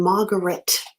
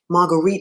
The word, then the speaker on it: Marguerite: as you know her was born margaret marguerite told me pronunciate correctly was born marguerite annie